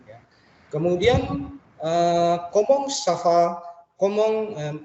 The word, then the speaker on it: comment: Komong, tulisannya komeng tapi bacanya komong. Jadi en atau ent ini dibaca ong.